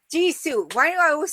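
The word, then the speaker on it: Jisoo: Ji Su. Ji Su.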